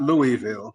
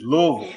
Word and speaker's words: Louisville: It's not Louisville, you know, just for our listeners, it's Louisville. You know, you got to say all in one. all in one rhythm.